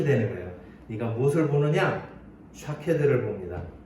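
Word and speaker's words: שָׁקֵד: 살구나무로 번역된 이 단어는 샤케드라고 읽습니다.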